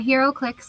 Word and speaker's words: HeroClix: Is that, am I pronouncing that right? Yeah, HeroClix.